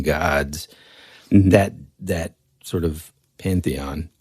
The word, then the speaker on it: pantheon: that that sort of Pantheon is that I know I said it wrong on one of the on the shows and it was like I think I said paeon but that that group